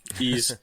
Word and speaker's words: Ys: Ease. It's spelled YS.